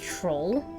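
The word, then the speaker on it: trowel: of your teeth that blade uh it's a troll for gardening it is it's pronounced troll I thought I thought it was pronounced TRL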